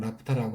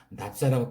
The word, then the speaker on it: 나프타: 납사다 이렇게 말도 나오는데, 납사라는 것은 일본 사람들이 나프타를 발음하기가 힘들으니까 납사라고 표현하죠. 그래서 우리도 그것을 받아가지고 납사라고 표현하는데, 여러분들은 나프타라고 그런 단어를 사용해 줬으면 좋겠네요.